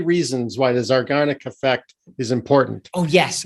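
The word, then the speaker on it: Zeigarnik: Am I pronouncing that correctly? Zygarnic Effect?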